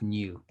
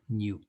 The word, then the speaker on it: nu: people use the greek letter nu this is pronounced nu nyo new okay and this has the units of one